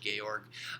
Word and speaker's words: Georg: sociologist named Georg Simmel he was German so you pronounced Georg Georg um who had a